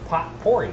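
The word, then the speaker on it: potpourri: po poer pot pori it's pot pori see how it's spelled pot pori we got your poery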